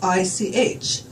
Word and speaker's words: ich: And the way that you would spell that in German is I-C-H. And the way you would pronounce that is like a cat hacking up a fur ball.